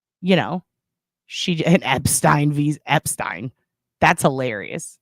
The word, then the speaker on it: Epstein: know, an Epstein visa, Epstein. That's hilarious. I'm not even gonna say Epstein because Epstein rhymes with Einstein and I prefer it.